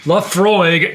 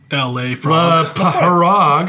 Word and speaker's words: Laphroaig: And in this episode, we've got none other than Laafroy Tenure. Wow. Good thing you didn't pronounce it like a California valley girl. How do they say it? La Frog.